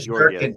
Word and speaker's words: Shesterkin: talked about the fact that, how do you pronounce that guy, the goalie's name? Shesterkin or Georgiev? Shesterkin.